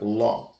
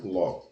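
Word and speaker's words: לא: Lembrando que no hebraico se escreve da direita para a esquerda e o aleph não tem som nenhum. Então, são compostos, você lê duas letras como se fosse ló, né?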